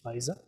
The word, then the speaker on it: Pfizer: very difficult to pronounce is it fisa city but eventually you all got to know it is fisa what you got to